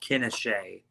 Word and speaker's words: Quinichette: Mike, on this, this topic as well, it's Paul Quinichette is actually how it's pronounced.